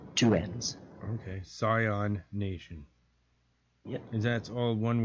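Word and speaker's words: Psion Nation: Scion Nation.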